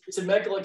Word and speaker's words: Temecula: Greg is an experienced real estate investor who lives near, I should have asked you how to pronounce the city there, Greg. It's Temecula, California.